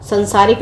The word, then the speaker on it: सांसारिक: हस्तक्षेप सांसारिक, संसारिक नहीं होता, सांसारिक होता है।